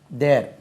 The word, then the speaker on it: the: இங்கே அந்த கொடை, இந்த உயிர் எழுத்து ஒலிக்கு முன்னாலே இந்த THE வந்தால் தி என்று உச்சரிக்கணும்.